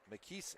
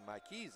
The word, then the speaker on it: Maris: And also we've got number 11 Mis Ingram coming into the game. And excuse me, Maris Ingram.